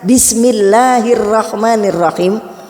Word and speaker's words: Bismillahirrahmanirrahim: Kata Rasulullah, "Tidak ada seorang hamba yang mengucapkan bismillahirrahmanirrahim, tapi ucapannya mesti benar, Bun."